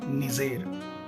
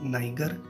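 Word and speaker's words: Niger: जी हाँ, नाइगर या नाइजीरिया नहीं, निजेर। नाइजीरिया एक ब्रिटिश कॉलोनी था, जबकि निजेर एक फ्रेंच कॉलोनी था और फ्रेंच प्रोनाउंसिएशन के हिसाब से ही इसको अपना नाम निजेर मिला।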